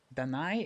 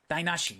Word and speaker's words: 台無し: Danai? Is it just Danai? It's probably not Danai. I think it's Dinah. Dainashi. Yes, got it. Okay, Dainashi.